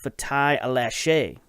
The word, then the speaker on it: Fatai Alashe: And then, of course, the big one is Fatai Alashe, is how you pronounce this name.